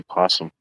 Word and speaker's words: opossum: It's like the opossum, you know, nobody really says opossum. We just say possum. But if you spell it, it's got a O at the beginning, opossum.